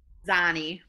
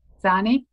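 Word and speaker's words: Xani: Person who spells the name X-A-N-I, I've always wondered how to pronounce that. What is it? Zani. Zani?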